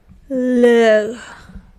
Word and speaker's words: leur: Now for there, the word is liog, but let me just ask Google what is it pronounced like. Leur.